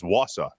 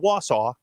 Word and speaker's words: Wausau: It was Wausau, not Wausau.